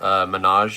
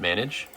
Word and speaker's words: Menage: If Dan Egan is watching this video, Menage is how you pronounce it, not manage.